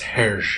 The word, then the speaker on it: Hergé: I believe it's Herge.